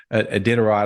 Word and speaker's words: Iditarod: wife's most excited about is, they had the Iditarod. I don't know if I said that right. The dog sleds. Iditarod.